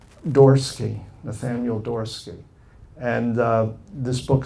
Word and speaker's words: Dorsky: His name is Nathaniel, I'll say it right, Dorsky, Nathaniel Dorsky.